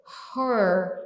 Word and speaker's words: her: Tá vendo que então o primeiro é her, é fechado. O segundo é hair é aberto.